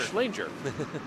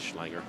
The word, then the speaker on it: Schlanger: darenheim Huang and uh swinger slanger as it's pronounced at least for this weekend Oh and for those of us who actually care his name is schlanger and he has a